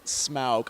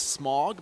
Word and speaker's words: Smaug: two desolation of smaug i think is the proper pronunciation smaug i always thought it was smog but i guess that's